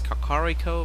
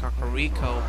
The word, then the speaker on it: Kakariko: And this is Kakariko Village. Or Kakariko Village, or Kakwakior Village. Because all of a sudden English kind of changes the pronunciation of everything. I like to call it Kakariko back in the, you